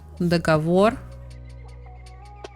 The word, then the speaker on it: договор: So, for example, договор.